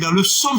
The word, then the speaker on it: psaume: Il faut prendre le P en français. Psaume.